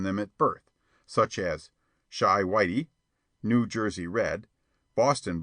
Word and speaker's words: Chi: boy and printer boow Chi pronounced Shai by the way is the argot for Chicago a favorite device of